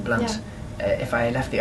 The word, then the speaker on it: Blunt: My name is pronounced Blunt. Yeah. And there's an O on it. but even with the O, it's still pronounced Blunt. Still the same pronunciation, Blunt.